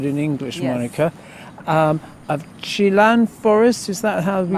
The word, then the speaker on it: 棲蘭: Of Chilan Forest, is that how we Macau, pronounce it? Chilan, yeah, Chilan, Macau.